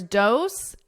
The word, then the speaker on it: dose: So here, dose and rose have the exact same vowel sound. It's that O, but the SE is pronounced differently. Dose with an S, rose. Z. So you hear a Z, a buzzing, because it's a voiced sound.